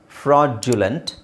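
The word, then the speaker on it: fraudulent: ಇದು ಫ್ರಾಡ್ಯುಲೆಂಟ್ ಸೊ ಅದರದ್ದು ಸರಿಯಾದ ಉಚ್ಚಾರಣೆ ಏನು ಫ್ರಾಡ್ಯುಲೆಂಟ್ nodule module so direct ಆಗಿ ಏನು ಮಾಡ್ಯುಲ್ ಅಂತಾನೂ ಹೇಳೋಕೆ ಆಗಲ್ಲ ಐ ಪಿ ಎ ಅಲ್ಲಿ ನಿಮಗೆ ಅದು ಜ ಅಂತಾನೆ ಕೊಟ್ಟಿರುತ್ತಾರೆ ಅಲ್ಲ ಇದು ಐಪಿಎ ಅಲ್ಲಿ ನಿಮಗೆ ಈ ಸೌಂಡ್ ಇರುತ್ತೆ ಡಿ ಜ ಸೋ ಈ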